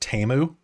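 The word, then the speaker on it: Temu: or go on on did you know that teu is pronounced TAMU what yeah I keep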